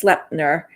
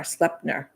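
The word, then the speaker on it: Sleipnir: his name was and and I probably am pronouncing this wrong but I believe it's slepner it's SLE e i p n i r slepner and again I I'm may be saying this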